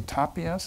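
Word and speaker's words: Tàpies: I think actually it included, how do you say, Tapies? Is that how you pronounce it? Tapies, yeah.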